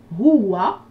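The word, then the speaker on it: هو: Huwa, on entend 2 sons. Je donne la correction. Hu Et A. et wa. Pas A, mais wa.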